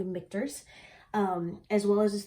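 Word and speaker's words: Michter's: pronouncing that wrong uh it looks like it could be pronounced like misters or something like that but it's actually mikters um as well as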